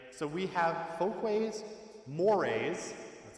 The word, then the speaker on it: mores: into four categories right so we have fol mores that's how it's pronounced tabos and laws right so in each